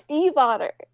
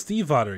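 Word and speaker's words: Stiefvater: pronounced Steve Otter. It's pronounced Steve Otter.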